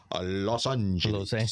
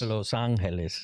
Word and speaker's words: Los Angeles: You got to say it correctly. Los Angeles. Los Angeles. Los Angeles. That's right. You know, not like the gringo says it, but uh how I